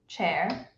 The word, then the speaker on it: Qieer: Let me help you to pronounce my first name real quick. Qieer.